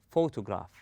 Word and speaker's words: photograph: rest of the word we say photograph we stress on the first syllable then we go easy